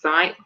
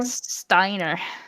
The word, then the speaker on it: Steiner: Alex and, is it Zion? How do you pronounce his name? Steiner.